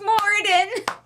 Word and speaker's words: Moiraine: It's pronounced Moiraine.